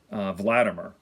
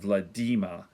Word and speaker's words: Vladimir: to pronounce his name wladim er but it's actually blood Dima rhymes with Redeemer as flatter Murr if